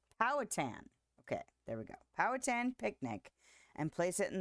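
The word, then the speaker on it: Powhatan: Powatan. Powatan. Okay, there we go. Powatan picnic and place it in the valley for you.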